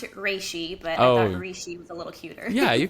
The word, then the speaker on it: Reishi: over there, but I know you're supposed to pronounce it Reishi, but I thought Reishi was a little cuter. Yeah, you could say Rishi.